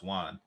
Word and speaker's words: yuan: on her a month let me see what 6,000 ywan is just pronounce Juan $828 yeah that's a